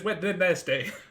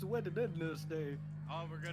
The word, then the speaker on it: Wednesday: __ ] Ain it's w did n day it's w day why do you not pronounce the middle of the word w sh I'm going